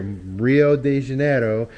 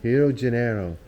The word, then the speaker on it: Rio de Janeiro: at his place here Rio de Janeiro that's not how they pronounce it though hero Genero but he was telling